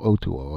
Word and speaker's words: Otoo: Otoo, he told me his name was (pronounced o-to-o ); also, he told